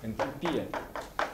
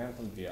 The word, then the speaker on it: энтальпия: Энтальпия. Это, ну, на английском энтальпия, а по-русски энтальпия на предпоследнее слово ударение.